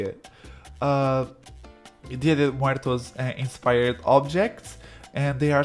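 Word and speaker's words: Día de Muertos: I have to stop call it Dia de los Muertos because it's not how you say it. Dia de Muertos inspired objects, and they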